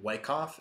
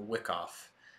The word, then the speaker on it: Wyckoff: It is actually properly pronounced Richard D. Wyckoff, not Wyckoff.